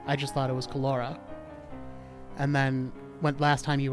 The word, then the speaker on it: Kalaora: How do you pronounce it? Kalaora.